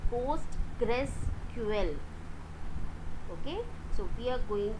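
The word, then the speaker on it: PostgreSQL: practical on post rql the pronunciation of this is is postgressql okay so we are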